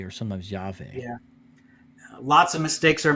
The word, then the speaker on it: Yahweh: up that's my job do you think it's wrong to pronounce it as yahweh yeah it's not as precise and you but you